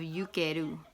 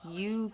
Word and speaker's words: Ukhedu: was a form of yukeru, which I feel like I'm pronouncing it right. It's Ukhedu, and yukeru is an Egyptian term or a Kemetic term for disease process.